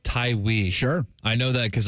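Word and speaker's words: Tawee: I think his name's pronounced Tywee.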